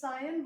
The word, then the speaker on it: scion: known as scion, is known as scion, spelling S-C-I-O-N, and it is pronounced as scion.